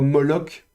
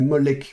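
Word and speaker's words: מֹלֶךְ: je ne sais plus où c'est dans la Bible, mais vous avez le roi Moloch. Et Moloch, donc ça s'écrit comme ceci.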